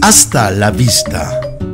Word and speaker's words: hasta la vista: It's important to remember that the H is silent in Spanish, so don't say hasta or hasta, it is hasta la vista.